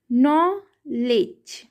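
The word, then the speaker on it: knowledge: silent हो गया है जब कभी भी डी जी के साथ में आता है तो यह साइलेंट हो जाता है हम नॉलेज नॉलेज जी ई नॉलेज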